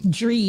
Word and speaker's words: Jreem: Our new artist tonight is Jreem. Dream. But spelled with a J.